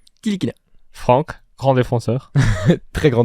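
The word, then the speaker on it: Ntilikina: n non tilikina tilikina tu prononce pas le N tilikina Franck grand défenseur très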